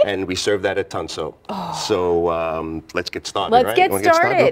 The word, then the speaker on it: Tansuo: of the restaurant so I say it correctly tonso tonso I love it all right so you're